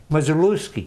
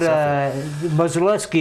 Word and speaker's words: Modzeleski: How do they say it? Modzeleski. Modzeleski. The right way. Okay, all right. Almost like the way you said. The way I said it initially, and I mispronounced. Yeah. Yeah, okay. Yeah, but, maybe in the back of my head, I knew the name. But Modzeleski is the way.